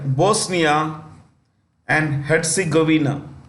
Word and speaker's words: Bosnia and Herzegovina: The J is silent. Okay. Sarajevo, which is in the country of, let me write here, Bosnia and Herzegovina.